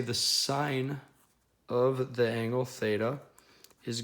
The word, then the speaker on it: sine: to be called the sine function he usually will see this abbreviated as SI n that is still pronounced sine it is not pronounced sin so sine sine is